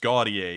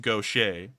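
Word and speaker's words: Gautier: town right here it looks like it's it's pronounced gaudier isn't it yeah it looks like that but it's actually pronounced gaucher and so if you're if you're from outside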